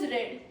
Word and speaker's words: read: Pronunciation 2 is read. This also has the same meaning, but it rhymes with bed.